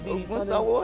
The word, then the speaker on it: Ogunsanwo: of the Lagos State Internal Revenue Service, Ogunsanwo. It's good to have you in the studio right now. Good morning. You're welcome. Did I pronounce the name? Ogunsanwo, I guess.